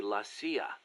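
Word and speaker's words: la CIA: They say Lassia instead of CIA, huh? Um, nothing strange about it. That's how it's pronounced when you read it in Spanish.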